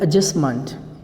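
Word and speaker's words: adjustment: ये होता है एडजस्टमेंट। डी जो होता है ये इसका प्रोनाउंसिएशन नहीं होता है, और MENT को भी मंट पढ़ा जाता है। एडजस्टमेंट, ये टी भी साइलेंट होता है।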